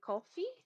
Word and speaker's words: Ko-fi: We also have a Ko-fi. How do you say that word? Like coffee. Kofi.